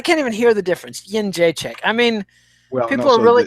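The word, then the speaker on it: Jędrzejczyk: Jedrzejczyk. Is that not? No, Jedrzejczyk. Jedrzejczyk. Yen. Like I have a yen. Jedrzejczyk. Yeah, correct. Fuck that. I can't even hear the difference. Jedrzejczyk.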